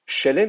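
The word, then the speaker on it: שלם: euh le substantif Chelem c'est un sgolet hein c'est-à-dire que vous reconnaissez le fait qu'il y a deux ségoles et que l'accent est sur la première syllabe chez l voyez contrairement à l'usage en hébreu d'habitude l'accent est sur la la dernière syllabe là c'est pas le cas tout simplement parce que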